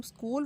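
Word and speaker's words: school: अब जब हम स्कूल वर्ड प्रोनाउंस करते हैं तो इसमें एच जो है वो साइलेंट है, इसकी आवाज़ नहीं आती।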